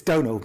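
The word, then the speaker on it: Domhnall: And neither did Donald Gleason. It's Donald, by the way. I know it's a really hard name to pronounce.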